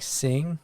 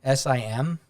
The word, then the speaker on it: sim: you're like oh like with the whole portuguese thing where it's like sing for yes s-i-m and you're like sim like no it's sing just say sing and